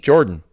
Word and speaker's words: Jordynne: I don't know how you pronounce JORDYNNE. Jordan. That's Jordan? Yeah.